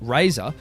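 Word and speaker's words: Razr: back in the day the Motorola Razer styled R A ZR pronounced Razer was a series of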